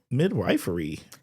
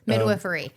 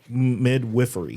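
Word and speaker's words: midwifery: So, what would you like to share with the Kosh listeners about a natural birth and maybe about midwifeery? Midwiffery. Midwiffery.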